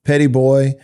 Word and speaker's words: Petit Bois: And you mentioned Horn Island, Petit Bois, which sounds fun to say, but it's spelled differently than you would think, obviously, if you were to look at it.